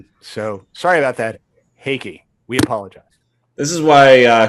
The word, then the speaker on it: Heike: I believe it is pronounced Heike.